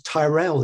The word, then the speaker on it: Tyrell: and he's referred to it's pronounced as tyrell in the film isn't it and it's got the first three letters of tyrant and i just thought